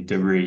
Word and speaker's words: debris: Definitely debris, yeah. That's the American pronunciation. Americans tend to put final stress on words from French.